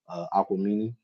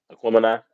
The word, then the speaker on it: Aquemini: I also think that the Outkast album, Aquamini, Aquemini. Aquemini, is that how you pronounce it?